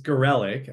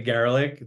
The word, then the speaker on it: Garellek: It's Garellek, actually, but Garellek. a Okay. lot of people say Garallek, like they Yep. can't. It's fine, whatever. At this No, point, Garellek.